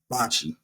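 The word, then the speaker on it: bocce: park wi clu s evened bot ball what Bachi that's how you say it bot Bachi B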